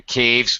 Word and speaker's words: caves: uh okay lived in caves but be careful make sure you're pronouncing that caves the S but yeah you got